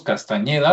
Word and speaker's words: Castañeda: Carlos Castañeda, lo voy a pronunciar con ñ, parece ser que él